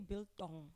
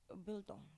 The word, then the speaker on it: biltong: Yeah, but although the T, you can say biltong, not Yeah. biltong. Yeah, but it just sounds better when you say it. Biltong.